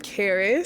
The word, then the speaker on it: Karis: Hi, I'm Karis, spelled like Paris with a K.